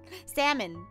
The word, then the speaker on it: salmon: feta I got it salmon I don't get but the L doesn't get pronounced yeah